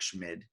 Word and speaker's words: Schmid: I think that's how you pronounce his name, Schmid. I like to say it where it's like you could be saying Schmidt or you could be saying Schmid. I think it's Schmid, but if you say it sort of,